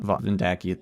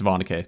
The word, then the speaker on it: Vondake: It's not Vondake, it's Vondake.